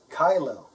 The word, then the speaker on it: Kyllo: And it's pronounced KYLLO, KYLLO, not KYLLO or KYLLO.